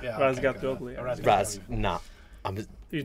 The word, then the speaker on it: Razgatlıoğlu: Razgatlioglu. You say? Not a chance. You try. Did I get it right? Was my pronunciation? Yeah, this is a good right? Yeah. Razgatlioglu.